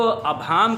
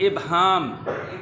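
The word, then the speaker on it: ابہام: हमारे पास अगला लफ्ज़ है जिसको गलत तौर पर प्रोनाउंस करते हैं, इसको अबहाम कह जाते हैं। इसमें कोई अबहाम नहीं है, जो कि गलत है। लफ्ज़ है इबहाम।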